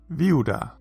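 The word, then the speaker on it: וִיהוּדָה: Oh, and this rule has one exception, because of course it does, and that is with the name Judah. Yehuda becomes Viuda.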